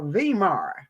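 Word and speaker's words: Weimar: rally in venberg CA W's are pronounced as V's in Germany valenberg Hitler attacks the vmar Republic and pledges to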